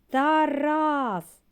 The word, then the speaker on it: Тарас: влаштуйтесь зручніше і почали який склад наголошений у слові тараз скажіть разом Тарас правильно другий вимовимо слово хата який